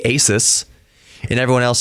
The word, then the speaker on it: Asus: that's Asus yeah or Ace that's maybe and obviously it's not obviously you pronounce it Asus yeah but before now